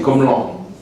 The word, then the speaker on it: Comlan: Ben ça, c'est un prénom africain, c'est Comlan, avec un L, Comlan.